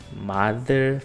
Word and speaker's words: mother: som de F mas na palavra mother tem som de D mother Father brother não é o nosso D porque o d você coloca a língua atrás do dente aqui é mother Father brother parece muito o d mas quando a gente